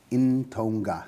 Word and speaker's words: Ntonga: global conscience how do you spell in Tonga phonetically or nto NGA in Tonga in Tonga so n n t o n G a